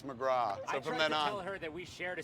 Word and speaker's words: McGrath: say that she's like it's not McGrath its McGraw heard that we shared